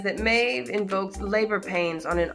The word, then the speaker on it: Maeve: or me let's see Maeve is how you pronounce it Maeve is a Celtic